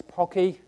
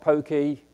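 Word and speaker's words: Poky: by the way that it's pocky to rhyme with hockey not pokey to rhyme with pokey so it's pocky linux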